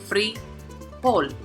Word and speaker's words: frijol: So we can see it has two syllables. So the prosodic accent is on, which is the last, frijol.